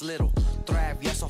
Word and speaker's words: Lil Travieso: I don't got to say my name because you already know it's Lil Travieso from Parks of Audio.